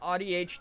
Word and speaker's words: AuDHD: I always say uh audhd is the first syllable of autism yeah you know what that's proba where my brain should have gone I don't know why I said it as ow yeah ouch DHD probably